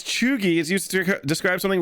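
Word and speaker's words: cheugy: a B for me Choi pronounced as chugi is used to describe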